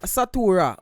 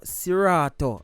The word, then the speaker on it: Seratuh: the previous review and mistakenly pronounced him named wrong macall artist satora when the artist named sirato i don't know oh